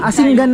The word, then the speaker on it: Asingan: from Hawaii and Asinggan ano Asingan ang pronunciation ano opo Asinggan Ilocos